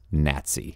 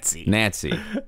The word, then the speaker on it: Nazi: a tough week, that we pronounce the word normally that rhymes with Yahtzee as Nazi. Nazi.